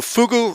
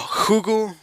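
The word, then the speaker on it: ふぐ: So Fugu, or Hugu, that's apparently how it's pronounced, is Japanese for the pufferfish.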